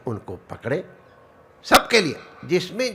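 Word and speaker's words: José: जगह का नाम है सं जोजे लेकिन उसकी स्पेलिंग लिखी होजे तो मैंने होजे नहीं नहीं महाराज इसको जोसे कहा जाता लगा हुआ वो तो कहते महाराज एच इसमें उच्चारण ज की तरह किया जाता है तो अब ये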